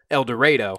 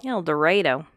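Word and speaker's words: Eldorado: dorado but i am assured that it is pronounced el dorado el dorado el dorado and harrisburg are called little egypt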